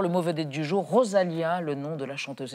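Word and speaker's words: Rosalía: Ça se prononce rosa. Lia avec un accent sur le i.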